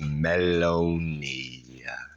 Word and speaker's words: Maloney: Pronounced Maloney. Maloney. But not baloney.